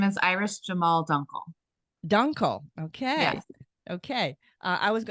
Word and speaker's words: Iris Jamahl Dunkle: don't you tell everybody um uh how to pronounce your name please oh my name is Iris Jamal Dunkel Dunkle okay okay I was I would have